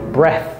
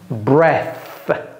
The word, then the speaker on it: breath: comment on dit souffle breath vous voyez comment j'ai prononcé ça vous voyez ma langue vous avez vu ma langue out breath breath à bout de souffle